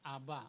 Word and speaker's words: Abba: Pag pinagsama yung Aleph and Beth, that is to be pronounced Abba or Father.